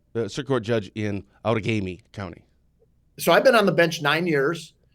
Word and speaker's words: Outagamie: So it's Outagamie County, and don't feel bad because if you're more than 30 miles away, you'll mispronounce it.